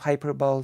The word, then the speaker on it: hyperbole: The E in the end of hyperbole is pronounced, not silent, by the way.